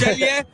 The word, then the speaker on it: Celje: coming from that name is very hard to pronounce. Celje. I was struggling actually. Was it Celje? So Kai gets it right. It's Celje.